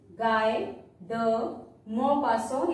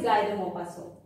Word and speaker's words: Guy de Maupassant: Pronunciation is Guy de Maupassant. He is a Frenchman. He is a French novelist. See, T at the end is silent because in French, consonants we don't pronounce